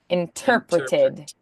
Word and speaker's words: interpreted: interpreted interpreted interpret intereted interpreted yes so the ter is the accent interpret interpreted interpreted perfect